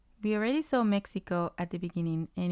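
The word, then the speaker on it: México: has Co he me since this word ends in an O the rule says that the stress should be on the second syllable so it should be Meo me but for whatever reason that's not how we wanted it to sound so we add the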